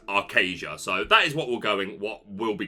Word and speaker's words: Archazia: in the Stream um I was told it was pronounced Aria uh but I've since heard it pronounced multiple times by people that include uh Ryan Miller that it is arcasia so that is what